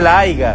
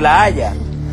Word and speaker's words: La Haya: hablando de la Haya, porque así se dice, no se dice la AIGA, se dice la Haya.